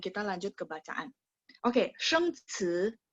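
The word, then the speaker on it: 生词: Oke, 生词, 生词, ingat, 生 nada 1, 词 nada 2. 生词生词, ingat CI bacanya ci, C ada angin, ci, 生词.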